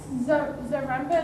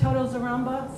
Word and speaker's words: Zaremba: So up next is Zaremba. Is that how you pronounce it? Yes. Are you here? Yes, you are. Okay, you ready? Okay. Thank you. Hi, I'm Zaremba.